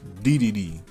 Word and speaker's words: Dedede: We beat Galacta Knight, Wham Bam Jewel, Dedede.